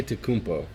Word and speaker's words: Antetokounmpo: And it's insane because nobody can pronounce his last name properly. Antetokounmpo.